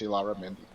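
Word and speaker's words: Illarramendi: They don't use the Y sound for the double L. So it's Ilara, which I had to, being Mexican speaking Spanish speaker, it's just weird for me to have to pronounce the double L's as an L sound, but that's what it is. It's Ilara Mendy.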